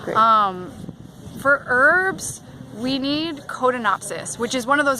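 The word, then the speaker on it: Codonopsis: for herbs we need codon opsys which is one of those herbs that's really expensive that lets say that again coda not Odin opsys spell that Co do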